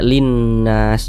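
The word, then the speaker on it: لِلنَّاس: tanda bacanya nih Nah cara membacanya itu baca idgham jadi dari li ini langsung masuk ke huruf nun yang iniah jadi dibaca Linnas jadi jangan bingungah makanya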